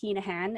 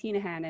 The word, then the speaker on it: Heneghan: find me on linkedin just search hinahan and my last name is spelled h e h-e-n-e-g-h-a-n okay you can find me on instagram at i am okay facebook same thing hinahan and i will be there awesome awesome well